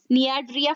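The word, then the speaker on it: Cnidaria: सेलेंटरेटा या फिर नियाड्रिया, इसमें सी साइलेंट हो जाता है, ध्यान में रखिएगा।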